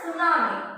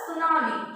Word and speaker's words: tsunami: Next one is tsunami. Here the word is called tsunami. T is silent.